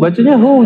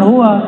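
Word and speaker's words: هو: Ya, hu, bacanya hu, jangan huwa, kecuali disambung.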